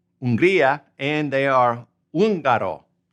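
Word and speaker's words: Hungría: Unria. Unria. And they are unaro. Remember that H is silent.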